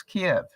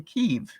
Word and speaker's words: Kyiv: interesting to me that I have mispronounced the capital of Ukraine, Kyiv, all my life. I always thought it was Kiev. Chicken Kiev. How many of you relate to Chicken Kiev? We never called it Chicken Kyiv. But I have now learned that the right way to pronounce it is Kyiv.